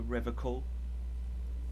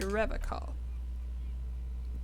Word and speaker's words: Revachol: You said Revachol. I like to pronounce it the hard way. The old way. The Vespertine way.